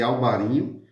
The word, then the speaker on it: Alvarinho: Existe uma certa disputa entre o norte de Portugal e a Galícia, né, na Espanha, porque lá também existe, lá chama de Albarinho, tem essa pronúncia espanhola.